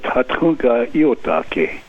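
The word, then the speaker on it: Tȟatȟáŋka Íyotake: Your great-grandfather was called Sitting Bull, but can you give us the actual Lakota pronunciation? His real name was Tatunka Iotake, and that translated into English means a buffalo bull who sits down.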